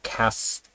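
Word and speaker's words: cache: sekitar MB nah Aceh khas namanya khas bukan turunkan dibaca C tulisannya KC Tapi bacanya khas ya ini memori sementara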